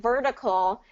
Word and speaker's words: vertical: so here's what's happening vertical is going to be a d uh that's that tap t rule because here what we what we have here is a vocalic r and so when when